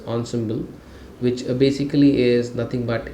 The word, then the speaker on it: ensemble: like an ensemble model so it's pronounced as ens symble which basically is nothing